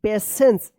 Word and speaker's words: patience: देखिए यहां पे PATIENCE, पेशेंस, TI का यहां पे ये पेशेंस से उच्चारण हो रहा है ना, श, पेशेंस and kindness make a person truly great.